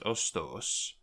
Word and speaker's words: ostos: do so that means the accusative of tree is ostos with a long o and then it's followed